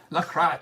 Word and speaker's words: LaCroix: I'm not saying like the other crotch. I'm saying LaCroix.